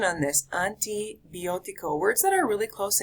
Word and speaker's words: antibiótico: So the A is not pronounced an, the I is not pronounced I, an I, a-I, antibiótico.